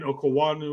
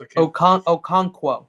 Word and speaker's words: Okonkwo: They're tied in Okawanu or whatever, however that's pronounced. Okonkwo.